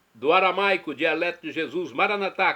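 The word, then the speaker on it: Maranatha: E agora eu clamo do aramaico, dialeto de Jesus, Maranatá, como dizemos nós católicos, ou Maranata, como dizem nossos irmãos separados, os evangélicos ou protestantes, não importa a pronúncia, o significado é o mesmo.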